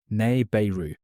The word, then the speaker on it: Nibiru: Now, let us begin with the word itself, Nibiru, ne-bi-ru in the carefully syllabic transliteration that Assyriologists use to render the Akkadian. Three syllables. The first carries the long vowel that the cuneiform sign signals with a vertical stroke.